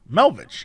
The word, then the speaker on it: Melvich: request for melvich scotland melvic yeah melvich scotland is it spelled like how i think it'll be pronounced melvich yeah yeah it is that's way up north